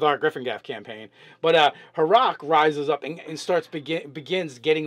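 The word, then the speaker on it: Haruuc: And I would pronounce it Haruk because it's H-A-R-U-U. Haruk.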